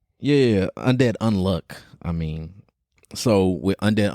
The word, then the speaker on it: Undead Unluck: let me make sure I say it right Undead unlock am I right yeah Undead unluck I mean so with Undead unluck um pretty